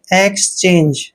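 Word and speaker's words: exchange: EX का उच्चारण हमेशा एक्स करते हैं, एक्स। और CHANGE को चेंज पढ़ते हैं, एक्सचेंज।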